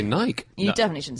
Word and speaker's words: Nike: But it means victory in Greek, which you would pronounce in ancient Greek Nike. We think.